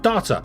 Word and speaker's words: data: Yeah, there's no R in yet cuz data people call it data which is D A R T A data or D A R T R T A R not data. If you say if you say data, you're putting an R in the word, which is very rich